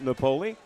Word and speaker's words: Napoli: defense by Michael Napoli napoi I hear the official pronunciation so Michael napole I had it right the very first time for M Mount